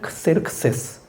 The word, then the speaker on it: 크세르크세스: 그러니까 그리스식 발음 으로 하면 크세르크세스 입니다 . 히브리어 로 는 아하수 에로 입니다 .